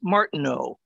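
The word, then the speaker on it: Martineau: know we've seen this it's the french eau so it's martin oh as opposed to ow but that's a small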